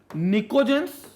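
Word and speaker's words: pnictogens: Group 15 को बोलते हैं निकोजेंस। अब निकोजेंस में पी साइलेंट रहता है, टी भी साइलेंट रहता है।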